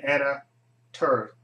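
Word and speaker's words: Anna Torv: Starring Joshua Jackson, John Noble, and Anna Tur. It's her name. That's how you pronounce her name.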